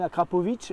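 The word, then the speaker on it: Akrapovič: bon merci Romain pour cette visite de l'usine Akrapovic je le prononce bien maintenant avec parfait ça y est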